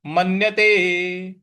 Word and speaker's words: मन्यते: इसके बाद है मन्यते मन्यते यहां म आधा न है उस पे हम आघात देंगे मन्यते नाधिकन नाधिकन यहां जो